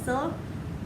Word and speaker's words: Scylla: Scylla. Scylla.